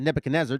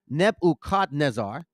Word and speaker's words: Nebuchadnezzar: nebu shz I'm sorry nebu Nezar that's how you say it not Nebuchadnezzar it's nebukadnezar king of Babylon had